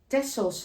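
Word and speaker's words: Texel: This grey, mid grey, and the white are Tesselse schapenwool, Tessel sheep wool, and the X is pronounced like an S, not an X.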